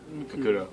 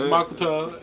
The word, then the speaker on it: Makoto: And it was Kudo. I'm sorry, guys. Matiko. Sorry, guys. Makoto is the way you pronounce it if you know it was actually Japanese.